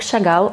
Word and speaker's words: Chagall: freedom this is mark chagall i will pronounce it in a russian way because he was kind of russian and not my favorite